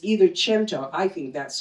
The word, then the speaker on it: cento: It's an Italian word. It's either chento. I think that's correct, but I've also heard it pronounced sento.